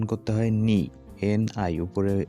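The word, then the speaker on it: 你: তো এই যে চাইনিজ অক্ষরটা দেখতে পাচ্ছেন, এটা হচ্ছে চাইনিজ ক্যারেক্টার, আর এটার উচ্চারণ করতে হয় নি, NI।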